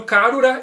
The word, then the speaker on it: Karura: representar a garuda então karura é a pronúncia japonesa para garuda e iga ele vai